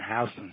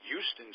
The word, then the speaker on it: Houston Street: Yeah, Katz's is still down there on Houston Street. Yeah. Yes, and you pronounced that correctly. A lot of people that don't know would pronounce that Houston Street. And well, I know. That's a sin. That's a sin in New York.